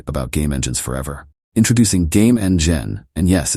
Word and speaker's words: GameNGen: game engines forever introducing game Eng gen and yes it's pronounced like game engine because well it is one but this isn't just